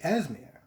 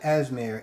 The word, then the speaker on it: Esme: One, I could have swore I heard somebody else say Esmer, and it's not Esmer, it's Esme, which, to be honest, and